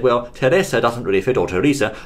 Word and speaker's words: Teresa: the name over there it is in fact Teresa Teresa Teresa for Buu Teresa Buu is actually Teresa I don't know why that is it's such a strange name but perhaps the chaps over here said well Teresa doesn't really fit or Teresa doesn't really fit